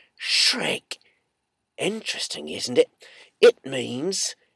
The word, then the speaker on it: Schräg: language of German people they spell it SCH are a and then they put two ducks over the a and then the end the word with the letter G let's pronounce something like Shrek interesting isn't it it